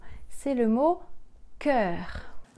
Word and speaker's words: cœur: C'est le mot cœur. Cœur. K-E-R. Cœur. Cœur.